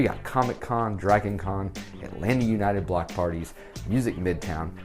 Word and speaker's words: Atlanta: number 19 it's called atlanta yes i know there's a second t at the end but we don't pronounce it so it's not atlanta it's atlanta and i don't know